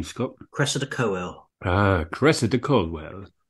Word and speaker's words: Cressida Cowell: Cressida Cowell.